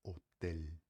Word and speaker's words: hotel: A gente em espanhol, quando a gente fala o L, fala de um jeito um pouco mais claro que no português, você falaria hotel. a gente fala hotel, beleza?